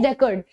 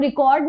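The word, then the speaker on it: record: ये एक नाउन है और इसका प्रोनाउंसिएशन होता है रिकॉर्ड। इसको आप रिकॉर्ड नहीं बोलेंगे, इसको आप बोलते हैं रिकॉर्ड।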